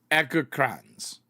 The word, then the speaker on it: Egerkrans: And then it's pronounced with a hard G as in get and a long A in the second half. So, Egerkrans.